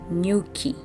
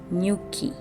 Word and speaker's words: nyuki: So N and Y, in Swahili, it's never a separate syllable, okay?